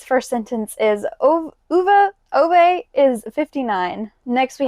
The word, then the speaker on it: Ove: Next, we have A Man Called Uva, I believe it's pronounced, but I like to say Ove in my head.